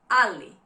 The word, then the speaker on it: ali: Ily Ali means but Ali Ali Ali.